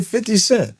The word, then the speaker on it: 50 Cent: I say 50 cent.